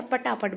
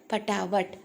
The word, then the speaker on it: पटावट: पटावट है ना, हम शायद इसको प्रोनाउंसिएशन करते हैं तो बोलते हैं अरे वो तो स्टेज में गया और पटापट बोल गया, पटापट बोलते हैं, लेकिन वो गलत अशुद्ध है। इसको क्या बोलेंगे, पटावट, यानी कि फटाफट बोल गया,